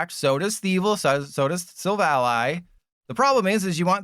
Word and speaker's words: Silvally: We evolve into, and yes, it's pronounced SILVALLY. It's not SILVALLY. It's SILVALLY like it's an ally.